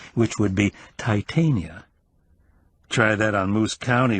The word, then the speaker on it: Titania: from a and undoubtedly used the Elizabethan pronunciation of the Latin which would be Titania try that on moose